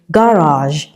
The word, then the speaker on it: garage: Now, this word is pronounced garage. Okay, letter G is on the line, and this is a voiced consonant sound. J.